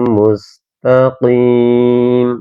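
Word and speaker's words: مُسْتَقِيم: baru huruf qalqalah nah ini harus dibaca juga tebal teman-teman ya jangan sampai teman-teman membaca ini kok dengan huruf ka mustaqim mustaqim nah biasanya tuh banyakan ada juga yang membacanya salak seperti itu.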